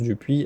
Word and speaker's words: Dupuis: Donc pour ceux qui nous écoutent en audio, Justine Dupit, bon Justine comme ça se prononce du puit avec un S à la fin et vous pouvez la retrouver sur LinkedIn si vous la trouvez pas.